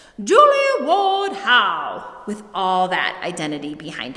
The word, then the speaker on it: Julia Ward Howe: her name all wrong in order to say her name appropriately you need to pretend that you are a feisty writer abolitionist suffragette anti-war activist believer in temperance proper bostonian lady who was also a unitarian you've got to say it like this julie woodhou with all that identity